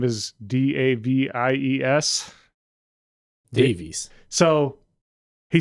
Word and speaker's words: Davies: So apparently only people with that last name pronounce it that way, and everyone else says Davies.